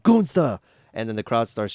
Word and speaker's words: Gunther: that happened was that gunther was like hey it's pronounced goontha and then the crowd